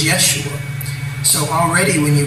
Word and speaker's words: Yeshua: haired blue eye jesus there was no jay in pronunciation when this man walked the earth his name was yeshua so already when you